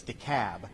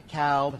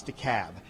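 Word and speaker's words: DeKalb: Yankees in the room it's de cab not deal not de cob it's the cab so we got to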